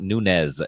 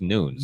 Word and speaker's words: Nunes: Nunees is not Nunez, it's Nunes.